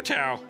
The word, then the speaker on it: Thao: It's the name that her grandmother gave her, Tao. Oh. So it helps if you take out the H when you say it, but don't forget to put it back in when you spell it.